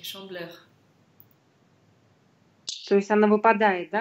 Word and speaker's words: Chandeleur: Но очень часто произносят как chandeleur. Потому что носовой звук, мы не говорили еще про носовые звуки, но воспринимайте их как гласный. И в таком случае у вас это «э» проводится в серединке.